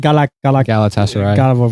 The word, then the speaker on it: Galatasaray: Galatasaray.